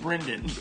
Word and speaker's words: Brandon Wilson: in the Moore League, Brandon Wilson. There's a Y in there. That's why I said it like that. It's pronounced Brendan.